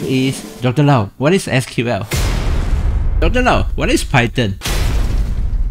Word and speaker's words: SQL: SQL is the short form for Structured Query Language and is pronounced as SQL.